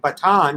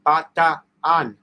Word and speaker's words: Bataan: You always say both A's. Instead of Batan, it's Bataan. Bataan.